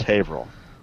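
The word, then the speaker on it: Haverhill: never seem to learn is havil which is h a v r h i l l Hill yeah oh yeah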